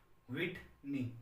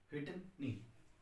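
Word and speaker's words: Whitney: इसका जो प्रोनाउंसिएशन है वो आप ठीक से देखें, विटनी, आधा व ही है, एक ही मात्रा टे न ई, विटनी।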